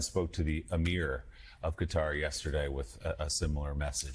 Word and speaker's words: Qatar: Qatar. Qatar. Don't say it in Arabic. That's why I say Qatar.